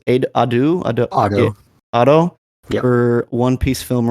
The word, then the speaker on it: Ado: New Genesis by how do you pronounce it? Ado.